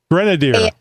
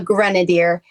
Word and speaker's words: Grenadier: Pronounce pronunciate for me, please. So, it is an Inos Grenadier. Grenadier. Yes, a Grenadier.